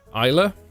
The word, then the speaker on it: Islay: It's named after a beach on the island of Islay, which is spelled Islay, but you'll get used to that living in Scotland.